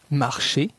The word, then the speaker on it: marcher: La terminaison ER de l'infinitif des verbes du premier groupe se prononce E. Marcher, marcher, manger, manger, aller, aller.